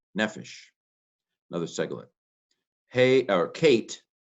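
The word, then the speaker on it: נֶפֶשׁ: Nun, segol, pei, segol, sheen, nefesh, another seglet.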